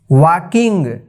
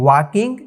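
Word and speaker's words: walking: ए एम E came वाकिंग डब्लू ए एल के आई एन जी वाकिंग यहां पर जो है एल साइलेंट हो गया है एल का उच्चारण नहीं हो पाया है तो इसको हम पढ़ेंगे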